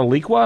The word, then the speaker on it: Alliqua: But we have got someone here who's a leader in this area, and I believe the company's called Aliqua. Is that correct? Is that how we pronounce it?